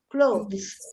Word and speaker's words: clothes: yes and clothes um the e is not pronounced clothes yeah good very very